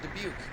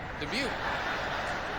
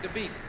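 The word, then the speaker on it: Dabiq: Interesting, a few weeks ago I mispronounced it. I said the city of Dubuque, and people in Iowa freaked out. Dubuque. No, not Dubuque. Dubuque.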